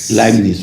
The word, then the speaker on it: Leibniz: ¿Cómo se pronuncia Leibniz? Leibniz, ok.